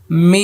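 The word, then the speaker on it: ميم: মিম, আমি আয়না দিয়ে বলছি মিম, শুরুতেও ঠোঁট লাগবে, শেষও ঠোঁট লেগে যাবে।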